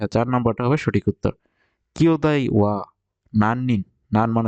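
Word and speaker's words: 兄弟: রং এখানে আছে কেও তাই হবে দায় এর উচ্চারণ হবে দায় তারানে এটাও ভুল তাই আছে এখানে আছে গিওদায় এখানে যদি কিও থাকতো তাহলে এটা সঠিক উত্তর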